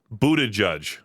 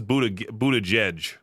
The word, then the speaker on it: Buttigieg: Pete Buttigieg. That's how you say his last name. I thought it was Buttigieg or Buttigieg, something like that.